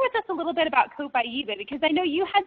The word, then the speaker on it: Copaiba: And remember how, I just want to reiterate, Copaiba. Copaiba.